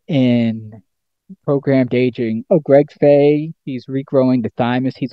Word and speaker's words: Fahy: F H F A H Y.